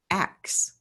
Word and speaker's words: ask: And what I discovered was that way back in the 1700s, to pronounce ASK correctly was to say axe. That's the correct pronunciation of it.